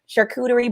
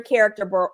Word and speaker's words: charcuterie: your charcuterie boards and yes that is how you say it charcuterie boards right um at first people say though they're they're character boards girl they're character boards